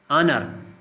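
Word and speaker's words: honour: इल्म, ऑनर क्या एच जो है वो साइलेंट है।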